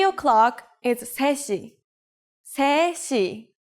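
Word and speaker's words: 세 시: 3 o'clock is 3시. 3시. The native Korean number 3 is 셋, but we shorten it to 세 when we put it before a counter like 시.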